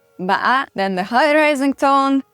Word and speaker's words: bã: These are the flat tone, ba, the low falling tone, ba, the asking tone, ba, the tumbling tone, which is pronounced with a little bit of a glottal stop, ba, then the high rising